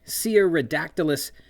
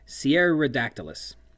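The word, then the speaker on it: Cearadactylus: later in the novel, I have been misspelling and perhaps mispronouncing. It doesn't have two R's in it, and I've been pronouncing it like Sierra, as in like Sierra Leone, which has two R's in it, but the actual name is more Brazilian in its pronunciation and spelling.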